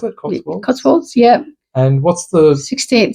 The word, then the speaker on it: Cotswolds: Is that how you pronounce it? Cotswolds? Cotswolds, yeah.